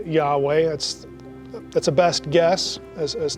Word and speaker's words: Yahweh: Again, we would pronounce his name Yahweh.